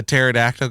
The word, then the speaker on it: pterodactyl: It's like, why can't you hear a pterodactyl going to the bathroom? Because there's no P. No, the P is silent.